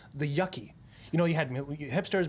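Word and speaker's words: yuccie: With two C's, but it's pronounced Yucky.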